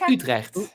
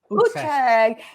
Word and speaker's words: Utrecht: And is it, how do we pronounce it? Utrecht? it's Utrecht. Utrecht.